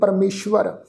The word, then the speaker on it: परमेश्वर: पार ब्रह्म परमेश्वर परमेश्वर ससे पैर अद्धा वावा लगा होया व्यंजन ससे पैर बिंदी लगा के पाठ उच्चारण करांगे परमेश्वर आराध नानक हर हर हरे।